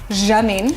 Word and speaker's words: Janine: Her name is Janine, actually technically pronounced Janine.